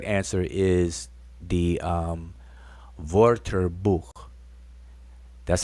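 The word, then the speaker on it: Wörterbuch: answer is the um vorter book that's how we supposed to be pronouncing it the german w is a v okay just so just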